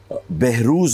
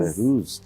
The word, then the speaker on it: Behroze: Behruz is the correct pronunciation. Behroz. Behruz.